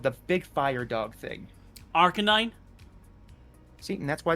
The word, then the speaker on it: Arcanine: Arcanine.